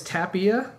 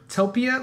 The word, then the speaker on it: Tapia: what it's worth and my last name is Tapia and I've got a lot of different Tapia really Topia like some yeah I've got a lot of weird pronounciations but I don't think